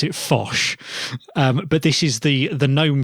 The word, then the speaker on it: Phosh: Yeah, it is pronounced Phosh, as in phone shell.